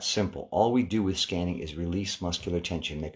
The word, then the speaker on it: SQANNING: for another session on what I call scanning spelled with a q s q a n n i n g if this is your